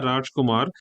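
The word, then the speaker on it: Radjkoemar: was a poet, her name even though I'm pronouncing it as Asha Rajumar, the Rajkumar portion is spelled R A D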